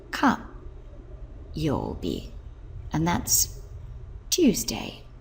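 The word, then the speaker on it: 火曜日: day of the week, which is pronounced ka yobi. Ka yobi, and that's Tuesday.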